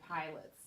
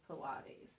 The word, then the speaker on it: Pilates: Well, I think I used to, well, obviously, Keisha does mess up every now and then, but I used to say pilots instead of Pilates, and that's different.